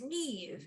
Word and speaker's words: Niamh: Niamh, I was like, it is Neve, isn't it? And you're like, 10-4, it is in fact Neve.